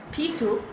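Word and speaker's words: Peter: अब हम आर को प्रोनाउंस नहीं करेंगे।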